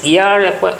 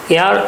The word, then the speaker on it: heir: South Korean officials think Kim Jong উনস daughter is এয়ার apparent, HEIR, এইচ এর কোনো উচ্চারণ হবে না এখানে, এইচটা সাইলেন্ট, এয়ার অ্যাপারেন্ট অথবা অ্যাপারেন্ট এয়ার, দুইটাই চলে, অ্যাপারেন্ট এয়ার।